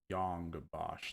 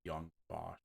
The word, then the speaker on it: Yong Bosch: so let's find out Yong Bosch not young boss all right cool I'm